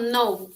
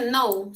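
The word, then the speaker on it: know: bien tenemos el verbo Nou que es saber su pasado Este es un poco difícil su pronunciación porque cuando lo ven escrito así les parece un poco difícil pero solo se dice no se lee la n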